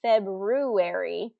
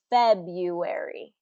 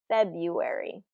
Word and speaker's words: February: like it should be February February but it is not that r in the middle does not get pronounced so if you can